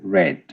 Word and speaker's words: read: remains the same but when you speak it kind of changes to red r e d so